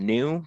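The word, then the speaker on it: GNU: out of the G new I know it's pronounced new but for Clarity I'm going to say ginu the g new Emax manual so defining a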